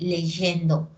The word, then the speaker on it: leyendo: no terminan yendo porque la y antes de vocal suena como consonante no suena como vocal Entonces se lee leyendo no se dice leyendo